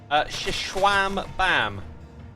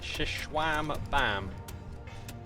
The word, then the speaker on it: Xisumavoid: Shishwam Bam is the way to pronounce it. Shishwam Bam.